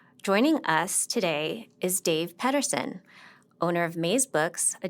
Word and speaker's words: Pedersen: It's pronounced Pedersen.